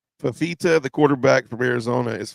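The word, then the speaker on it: Fifita: I agree with you it's three syllables faita faita the quarterback from Arizona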